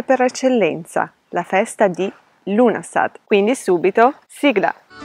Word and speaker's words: Lughnasadh: come riserva per l'inverno il nome di questa festa pronunciato come se la g non esistesse viene tradotto come assemblea